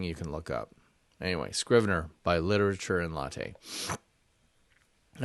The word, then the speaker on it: Scrivener: the guys at literature and latte and it's pronounced Scrivener and it's something you can look up anyway Scrivener by literature and latte and I'd say more